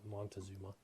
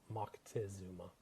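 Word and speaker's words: Moctezuma: Aztec empire, a guy by the name of Mcktazuma or Montazuma as they say here in the states, but it's Mckesuma is the appropriate pronunciation.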